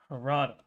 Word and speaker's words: Harada: Is that how you pronounce his name? Harada.